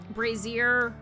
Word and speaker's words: brazier: Brazier, brazier. Like, I was thinking like the royal vizier, and so it was like, oh, it's like that. It's a brazier.